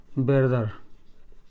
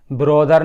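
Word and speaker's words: brother: So your ब्रदर, ब्रोदर नहीं है, ब्रदर, your ब्रदर, your ब्रदर।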